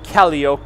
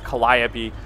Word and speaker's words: Calliope: Oh, ladies and gentlemen, the beautiful Calliope, as I like to affectionately refer to it. Yes, I know that's not how you pronounce that. It's Calliope.